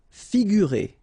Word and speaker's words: figurer: Figurer. Okay, so here you get this G and U together without any vowel after, so you will pronounce this combination gu, sorry.